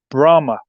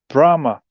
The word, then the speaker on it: Brahma: And he said and I think he even mispronounced Brahma, the Indian uh the Hindu rather Hindu god